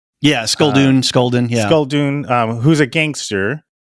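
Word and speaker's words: Sculdun: Should I pronounce his name? Yeah, Skulldun.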